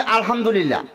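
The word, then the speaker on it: الحمد لله: আমরা হই আলহামদুলিল্লাহ।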